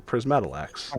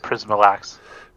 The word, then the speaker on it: Prismalax: a I would take prism. out one of the syllables and do just prismalax. Prismalax. So that's the ta. Getting rid of the ta.